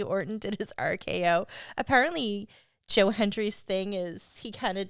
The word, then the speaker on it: Joe Hendry: But instead, we got Joe Hendry.